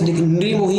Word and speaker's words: निर्मोही: र है ही नहीं अब देखिए यहां पे मो और र की मात्रा है तो र का उच्चारण पहले होता है बाद में मो का होगा इसलिए निर्मोही ये बिल्कुल